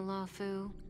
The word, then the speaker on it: Luofu: you guys heard of the lau that's how you say it Lau okay the sijo lau